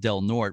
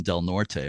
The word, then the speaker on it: Del Norte: So the lens, as you just said, is in the Del Norte, and you pronounce it Del Norte rather than Del Norte, right? Yes. Yeah. Okay. Del Norte Historical Society.